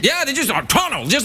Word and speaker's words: Toronto: No, I don't have time for T's. Toronto. They just run it. They just run it on through like that with no T's. Yeah, they just Toronto, just like that.